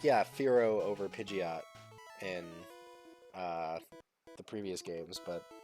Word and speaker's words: Pidgeot: Because like it's spelled like a pigeon, but with a T at the end. But Pidgeotto, Pidgeotto.